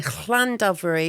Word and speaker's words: Llandovery: I was in Llandovery. Is that how you pronounce it?